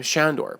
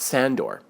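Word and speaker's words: Sándor: around another example is the Hungarian name Shandor pronounced with an SH not Sandor linguist were in such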